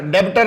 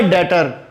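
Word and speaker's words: debtor: डेब्टर नहीं होता, B silent होता है। What do you mean by डेटर?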